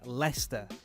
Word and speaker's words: Leicester: And by the way, for non-English people, that word is pronounced Leicester.